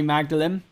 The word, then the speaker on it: Magdalene: cambridge is right nice man was my college modeling college it they're supposed to it's supposed to be pronounced magdalen as in like mary magdalene but the um the guy who founded the